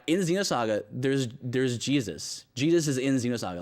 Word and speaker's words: Jesus: like but it's in it's pronounced Jesus not hey-zeus yeah well there's a